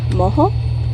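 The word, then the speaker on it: mojo: makes the gravy called Mohawk m oj o is pronounced that J is pronounced with an H or local the skin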